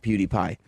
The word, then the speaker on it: PewDiePie: I mean, a lot of people do not like PewDiePie.